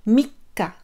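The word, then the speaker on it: 三日: Ensuite, pour le 3, mikka. Mikka. Donc là, ici, on retient. Mikka.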